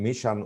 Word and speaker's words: mission: Here is in vision, we use the sound ja, in mission, we use the sound sha.